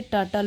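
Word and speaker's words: turtle: टर्टल यानी कछुआ, और यहाँ पे ये आर साइलेंट होता है, इसे टर्टल पढ़ेंगे। और टॉकेटिव एक एडजेक्टिव हो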